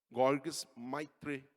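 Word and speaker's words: Georges Lemaître: É Georges, porque eu fui ver a pronúncia, não é em inglês, né, é belga. Georges Maitre.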